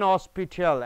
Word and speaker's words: hospital: He fell and was taken to an hospital. An is correct because H is silent over here.